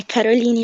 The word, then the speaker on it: Caroline: pronúncia do seu nome é Caroline ou Caroline? É Caroline mesmo.